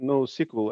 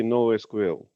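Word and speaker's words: NoSQL: decommissioned yeah misha also when you're saying no sequel i think it's you should say no sql okay no sql okay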